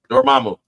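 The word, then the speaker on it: Dormammu: Dormamu and um Loki.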